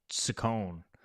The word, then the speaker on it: Saccone: Saccone, as somebody pointed out, is how we're supposed to pronounce it.